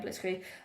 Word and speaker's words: Blitzkrieg: Yeah, Blitzkrieg.